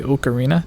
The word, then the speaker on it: ocarina: 12 minute mark and in Japan with the way they speak most words with ELLs are pronounced with R so if you have ever heard anyone say oakarina no they are not pronouncing it wrong don't be a jerk